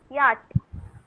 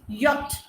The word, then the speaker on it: yacht: Yacht. Yup. T. Yes, anyone else? Sea. It is C and H. C and H is silent. It is yacht.